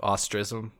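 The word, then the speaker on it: Austrism: We've got Austerism. Is that even how you say that? Ostrism. They kind of just smash it into like one syllable.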